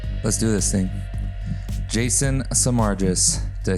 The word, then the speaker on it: Samargis: okay let's do this thing Jason samargis did I say it right yeah okay because